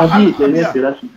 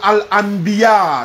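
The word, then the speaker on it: الأنبياء: Allô, on ne dit pas Al-Abiya. Oui, allô? On dit Suratul Al-Anbiya. C'est pas Abiya.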